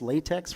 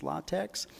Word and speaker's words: LaTeX: formatting, uh, Lex, I know I called this LaTeX for a long time, but I guess the proper pronunciation is Lattex. Lot text is a great um document preparation system.